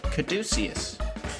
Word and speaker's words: Caduceus: How do you pronounce it? Caduceus.